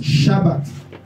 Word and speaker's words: sabbat: au peuple de Dieu on écrit Saba en français mais on prononce shabbat amen on dit que